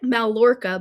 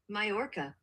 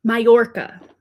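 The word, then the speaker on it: Mallorca: It looks like Malora, but it's not pronounced that way.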